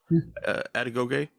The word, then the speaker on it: Adegoke: I can't remember how to pronounce his last name. Adegoke. Adegoke.